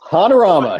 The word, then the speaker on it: Hanorama: And speaking of your game group, I did get a question on Twitter from at Hanorama, I believe it's pronounced. Hanorama, yep. Hanorama.